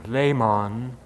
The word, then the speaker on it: Lehman: In this transition, the pronunciation of their names changed from Ley-mahn, the German, to Lehman which we would be more comfortable with.